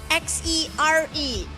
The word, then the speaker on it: Xere: X-E-R-E. Como que pronuncia?